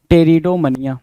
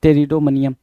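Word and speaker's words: pteridomania: यहाँ अगेन आपके सामने क्या है भाई, अगेन पी आपका साइलेंट है। टेरिडोमनिया, द टर्म इज टेरिडोमनिया।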